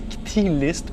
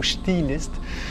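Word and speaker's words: Chthe'ilist: apostrophe I-L-I-S-T, donc qu'on peut prononcer Ktilist ou Chtilist.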